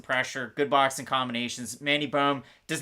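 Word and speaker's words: Böhm: You got to pronounce the O umlaut that I couldn't get in this text format. I have Mandy Bohm to beat Victoria Leonardo, but again, Leonardo has decent pressure, good boxing combinations.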